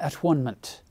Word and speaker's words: atonement: William Tyndale probably wouldn't have pronounced this atonement. It would have been atonement for him, because it's all about unity and oneness and coming together and unifying.